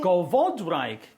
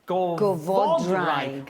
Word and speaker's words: Gofodwraig: Gofodwraig. Gofodwraig. Well, you find in Gymraeg, the Gofodwraig. accent falls on the last but one syllable, usually.